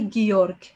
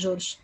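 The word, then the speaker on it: Georg: كارين جورج ستودير جورناليستيك جورج بيتنطق بالألماني جيورج مش جورج جيورج ستوديات جورناليستيك جيورج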